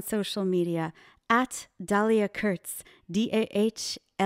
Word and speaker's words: Dahlia: media at Dahlia Kurtz, DAHLIA. Dahlia, yes, I know. My parents, I'm sure they put that H in there just to mess you up.